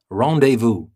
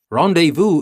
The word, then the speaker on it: rendezvous: for our next word rendezvous and you can see that i'm trying to pronounce it in a french way because it is a french word and you will know